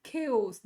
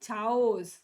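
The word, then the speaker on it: chaos: ನಾವು ಕೆಸ್ ಅಂತ ಕರೀತೀವಿ ಕೆಸ್ ದಿಸ್ ಇಸ್ ಕೆಸ್ ನಾಟ್ ಚಾವೋಸ್ ಚಾವೋಸ್ ಅಲ್ಲ ಇದು ಕೆ ನಾವು ಓಕೆ ಅನ್ನುವಾಗ ಅಂತೀವಲ್ಲ ಓಕೆ ಓಕೆ ಅಂತೀವಲ್ಲ ಅದೇ ತರ ಕೆಸ್ ಕೆ ಓಸ್ ದಿಸ್ ಇಸ್ ಕೆ ಓಸ್ ಅಂದ್ರೆ ಕಂಪ್ಲೀಟ್ ಕನ್ಫ್ಯೂಷನ್ ಇದನ್ನ ಚಾಓಸ್ ಅಂತ ಛಾಯಸ್ ಅಥವಾ ಚಾಸ್ ಅನ್ನುವಂತ ರಾಂಗ್ ಕನ್ಸೆಪ್ಶನ್ ಇದೆ ಇದನ್ನ ನಾವು ಕೆಸ್ ಅಂತ ಕರೀತೀವಿ ಓಕೆನಾ ದಿಸ್ ಇಸ್ ಕೆಸ್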